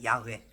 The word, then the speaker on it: 야훼: 하나님께서 모세에게 시내산에서 알려준 이름을 정확히는 알지 못하지나 야훼라고 이제 발음을 합니다. 야훼.